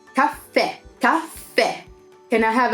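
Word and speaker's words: caffè: not like that see this as an accent at the end of the word on the last II so it's cafe top pair can I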